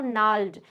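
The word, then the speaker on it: gnarled: नहीं लग रही है और वो नल्ड यहां पर जी साइलेंट है नल डिजीज मेंस जो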